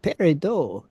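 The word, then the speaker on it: peridot: on the no because that is spelled p r i d o t that's par dot in my vocabulary so I guess if I was French it's French I have pero just saying just saying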